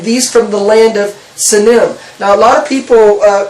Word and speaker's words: Sinim: Okay, and so in Isaiah, in chapter 49, it talks about the land of, how do you pronounce Sinim. it? Sinim, and this is Isaiah chapter 49 verse 12.